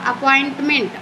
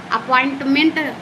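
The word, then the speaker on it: appointment: फिर अपॉइंटमेंट अपॉइंट अपॉइंटमेंट देखिए यहां पे अपॉइंटमेंट कितना को नहीं पढ़ने आता है अप एक पढ़ता है अपॉइंटमेंट अपॉइंटमेंट अपॉइंटमेंट ठीक है ऐसे पढ़ना है फिर हमारा दूसरा अटेंटमेंट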